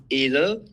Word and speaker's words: Edel: So Edel, the name comes from the Edelweiss. Edelweiss is a flower that grows in the Swiss Alps on very high altitudes. It's like known to be like a very resilient flower. And I thought, okay, I'll put a little bit of patriotism into the branding, into the name. So we pronounce it Edel. But in English, it makes more sense to call it Edel.